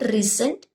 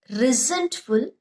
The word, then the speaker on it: resentful: Resentful, okay, you should pronounce it not resent, resentful, that is feeling angry or upset about that something is done unfair to you.